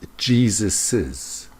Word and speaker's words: Jesus's: and you want to show the possessive, it's pronounced Jesus's, James's, Jesus's.